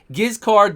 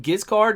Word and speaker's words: Giscard: truly is a legendary giz card the sigil now in french is pronounced totally different the d is silent the beginning is like just car so i'm just going to say just giz card because it's much easier